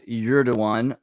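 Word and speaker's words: Erdoğan: By the way, yes, Piano Gigger, it is pronounced Erdogan, although when I have to spell it out,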